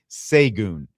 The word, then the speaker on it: Sae'vion: But uh John Doe 09 in the YouTube chat says, "Sae'vion is how you say it."